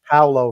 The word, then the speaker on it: Paolo: Paulo, you should have been watching the TJ and the Grumpy Old Man show, Paulo. We covered this big time. We covered this for... It's Paolo, first of all, not Paulo.